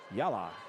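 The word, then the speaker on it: Jalla: is good mayo and I think that Jay might be silent so it might be yala that tonight laa I like that J is silent j a l l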